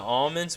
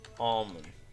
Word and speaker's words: almond: How to pronounce almond? I think the L's in like almond. Oh, there's no way I was misled on that. The L I thought was silent.